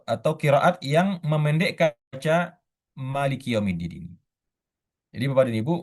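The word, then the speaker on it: مَالِكِ: Riwayat hafaz dari Asim kita membacanya Maliki yaumiddin. Mananya panjang ya.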